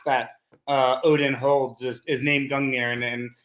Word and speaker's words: Gungnir: So I wonder if you could tell us a bit about your new company, Gungnir. I'm pronouncing that right? Yeah, Gungnir.